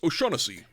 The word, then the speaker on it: O'Shaughnessy: It's pronounced O'Shaughnessy.